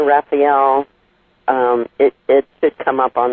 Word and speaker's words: Raefiel: no problem at all it is Raphael the first name is spelled ATH hmmmm instead of with an A on the end and Raphael is so just a little differently because it's ra e f like in fact IE L instead of like the